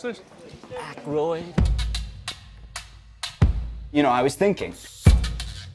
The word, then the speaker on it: Aykroyd: Chevy Chase, Gilda Radner, Dan, I ain't got, how the fuck do you pronounce this? Aykroyd.